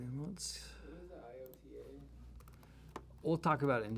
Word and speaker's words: iota: we can put this IOTA, which they pronounce as iota, as it's spelled.